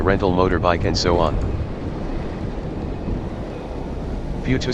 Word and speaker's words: Fuchu: Fuchu spells F-U-C-H-U, but David can't pronounce correctly, so it has to be spelled F-U-T-U, for better pronunciation by David, if not correct.